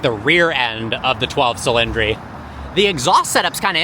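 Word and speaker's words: 12Cilindri: So, we spent a decent amount of time behind the wheel of the 12 cylindry now or the dodic chillandry as Shmei would say and the proper Italian pronunciation.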